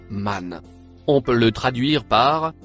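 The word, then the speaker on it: من: Le mot marron se prononce man.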